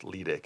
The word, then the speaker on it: Ledick: I've been told that it's properly pronounced Ledick. Is that correct? Ledick.